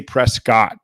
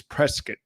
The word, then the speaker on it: Prescott: out in prescott arizona i used to say prescott guys and taren corrected me it's prescott that's how they say it so i'm pretty good